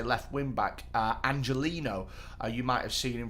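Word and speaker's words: Angeliño: away one of their biggest weapons uh remember angelino scored both the goals against istanbul in the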